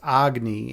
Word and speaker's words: Agni: the whole philosophy behind Agni, or what he's actually pronounced Agni in Hindi.